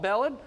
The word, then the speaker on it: Belland: Let's welcome the owner of Titan Contracting, Belland, and operations manager Kyle Richardson. I mispronounced your last name.